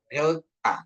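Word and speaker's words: δέλτα: Terus ada delta ya, delta ya. Dia lebih ke TH ya, D, T ya. Jadi pengucapannya delta gitu. Lidah kita itu di antara gigi ya.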